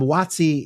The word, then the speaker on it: WOTC: talk about these um watsi is I I love that phonetically that's exactly how I say is watsi it's actually Wy U but no one says that it's wotc the worker opport is